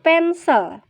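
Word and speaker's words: pencil: kita ganti huruf c kalo dalam bahasa inggris tulisannya pensil ya tapi dibacanya pensel her pensil-pensil nya dia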